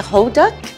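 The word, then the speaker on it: 호떡: How do you pronounce it? A hoduk?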